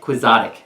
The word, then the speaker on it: quixotic: Quixotic.